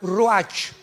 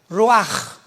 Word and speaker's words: ruach: Apunta la palabra espíritu en el hebreo, es como suena, ruach. R Raúl, U-A-C-H. Pero la CH en el hebreo se pronuncia como J, ruach.